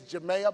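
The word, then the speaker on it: Jamaiia: My sister's name is Jamea Bond. You know, black folks are creative with our names. It looks just like Jamaica, but that last C is a double I.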